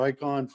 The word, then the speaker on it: Rikon: And David has a, how do you say, Rikon? Right. Yeah. Rikon 14-inch, said it works fine, but it does have some plastic parts he wishes were metal.